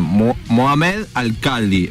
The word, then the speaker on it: Mohamed Alcaldi: y él se llama, a ver si lo estoy pronuncio bien, Mohamed Alcaldi. ¿Estás ahí, Mohamed? ¿Qué tal? Muy bien, lo hiciste bien.